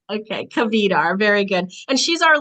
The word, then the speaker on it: Kvedar: It's Cavar. There's no silent letters. Okay. Cavar.